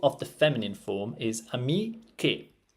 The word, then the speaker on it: amiche: Now, there are spelling rules when it comes to Italian, and we know that C and E is read ce in Italian. So we need to add the H to maintain the pronunciation che, right?